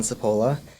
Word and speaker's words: Cipolla: Uh my name is Sapola and I am the new clinical case manager and student outreach liaison for counseling services at Johnson and Wales.